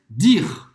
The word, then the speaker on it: dire: Em francês, dire. Dire. Dire. Então, mais uma vez, a gente não vai pronunciar o E no final. E presta atenção que em francês o D não é chiado, tá?